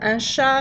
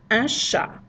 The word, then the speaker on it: chat: So, again, that word is un chat. T totally silent to avoid sounding like the other word.